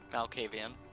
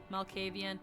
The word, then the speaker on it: Malkavian: Malkavian. Malkavian.